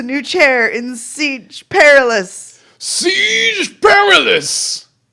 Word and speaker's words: Siege Perilous: Siege Perilous! Rhymes with garrulous.